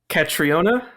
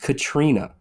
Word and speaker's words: Catriona: um don't overthink it catriona catriona no it's just Katrina oh yeah that o is silent I think dude transliterating